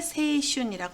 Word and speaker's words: 青春: 주로 세이라고 읽으니까 여러분들은 세이를 외워두시면 되겠네요. 청춘을 세이슌이라고 합니다.